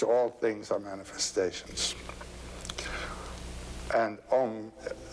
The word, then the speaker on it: Om: written a u m you start the back of the mouth ah and then ooh you fill the mouth and M closes at the mouth and when you pronounced